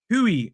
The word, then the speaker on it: Guiu: I'm pretty sure the G is pronounced like H. Hui.